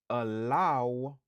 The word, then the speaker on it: allow: Stress syllable lan li sou deuxième syllabe lan. C'est là que nous accentuer sous mot.